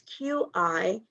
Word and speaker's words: Qigong: It's Qigong. I never pronounce it right. It's Qi-Chong.